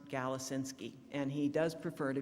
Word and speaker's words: Galasinski: a an ending in an i and it's pronounced galacinsky and he does prefer to be called james